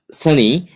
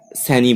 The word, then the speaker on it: Sanne: অ্যান্ড সানি বা শান বলতে পারি আমরা, শোন যেভাবে উচ্চারণ করতে পারি একটা নাম, এটা SANNE, স্যানি বলি আমরা।